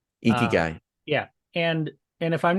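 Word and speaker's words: ikigai: a Japanese um philosophy okay uh called uh eeky guy eeky guy yeah and and if I'm not pronouncing it correctly don't don't don't comment I'm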